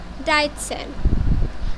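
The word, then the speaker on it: dreizehn: আপনাদেরকে আরেকটা জিনিস মনে করিয়ে দিই, সেট যখন কোনো ওয়ার্ডের মাঝখানে বসে তখন একই সাথে তো এবং স এর উচ্চারণ দেয়, একই সাথে তো এবং স এর উচ্চারণ দেয়। এখানে যখন দেখেন ওয়ার্ডের শুরুতে আমি সেট পড়েছি, সেটের উচ্চারণ সরাসরি চ এসেছে, কিন্তু যখন আমি আবার ডাইটসেন উচ্চারণ করেছি তখন সেটের উচ্চারণ তো স এসেছে।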